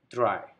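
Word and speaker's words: drei: number three try again we have the same thing here e i at the end e i is pronounced as i dry number three number four fear v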